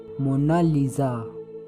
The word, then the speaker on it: Mona Lisa: कोई इसे मोनालिसा कहता है तो कोई मोनालिसा कहता है, लेकिन इटालियन में इसकी करेक्ट प्रोनाउंसिएशन है मोनालिसा।